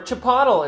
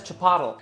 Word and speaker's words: chipotle: familiar with chipotle where chipotle is older people's hey i've told my mom how to say this a thousand times she still says chapatta that's great too you